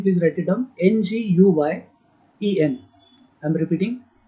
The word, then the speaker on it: Nguyen: Nguyen. I'm repeating. Nguyen. Nguyen. N is silent.